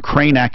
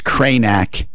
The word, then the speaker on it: Kraynak: Kranak is spelled Kraynak. So it's Kranak, 2 Ks.